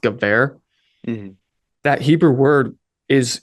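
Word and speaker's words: גבר: Another point, the Hebrew word gever, if you're thinking in English transliteration, it's Geber, but it's pronounced gever.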